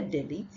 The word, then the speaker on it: delete: And then the next word is delete, not delete. If you say delete, you're actually exchanging it for this A sound. So it is delete.